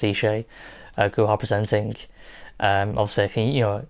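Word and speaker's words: Isa Guha: had uh was it ishay guha i think it's pronounced eshay gohar presenting um obviously you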